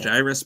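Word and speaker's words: Gyruss: you pronounce that word is it gyrus or gyus gyrus gyus it's based on a gyroscope man come on gyrus best be on it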